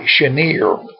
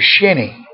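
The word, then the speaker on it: Cheniere: town and a lake that's spelled c-h-n-c-h-e-n i-e-r-e i believe it looks like shanir which would be french flash indian slash you know but we all pronounce it shinny and i've had people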